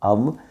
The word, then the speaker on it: of: अब पढ़ते हैं जी, तो हम उसको ऑफ पढ़ रहे होते हैं, लेकिन असल में इसकी जो प्रोनाउंसिएशन है दैट इज़ अब।